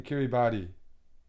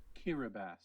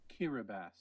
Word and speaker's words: Kiribati: Bonriki is an international airport in Kiribati. Kiribati? Wait, am I mispronouncing it? Kiribati. Holy fuck! I wouldn't have guessed that pronunciation. Kiribati.